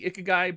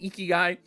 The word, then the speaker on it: Ikigai: Again, I feel like it should be Ikigai, but I was specifically asked to pronounce it Ikigai.